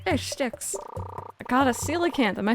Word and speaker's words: coelacanth: I got a coelacanth.